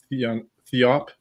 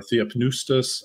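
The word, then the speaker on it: θεόπνευστος: Some people pronounce Theopnustos because they're pronouncing that pi. I'm used to hearing it with a silent pi there, but Theonistos or Theopnustos. Or Theopneustos, I've heard as well.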